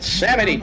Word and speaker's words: Samedi: How the fuck do you pronounce Samedi like that? It's Samedi, damn it.